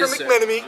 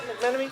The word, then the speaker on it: McMenemy: To my right, offensive lineman McMenemy. Is that right, McMenemy? Yes, sir. Nailed the pronunciation.